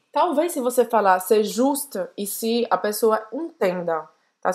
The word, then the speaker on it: juste: C'est juste ici. Presta atenção aqui no U, tá? Biquinho de novo. Juste ici. C'est juste ici. Talvez se você falar c'est juste ici, a pessoa entenda.